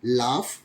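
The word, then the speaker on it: laugh: जी H after you अगर यू है और यू प्लस जी एच अर्थात यू के बाद जी एच आता है तो जैसे एल ए यू जी एच तो जी यू दे रखा है यू के बाद कौन लेटर है जी एच तो उसका प्रशन क्या हो जाएगा फ जैसे लाफ calf and Rufus next ji H also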